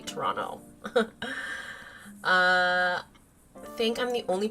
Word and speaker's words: Toronto: Although I just pronounced I pronounced it Toronto. It's supposed to be Toronto.